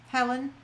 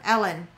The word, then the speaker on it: Ellen: So the first winner, Joni, Helen, Ellen, not Helen, Ellen. Sorry, Ellen. I mispronounced your name not once but twice.